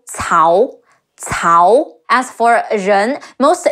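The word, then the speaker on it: 曹: I recently noticed another common mispronunciation is Cao, like south, like Cao Cao. The C in Cao is closer to the English TS sound, and it's Cao Cao.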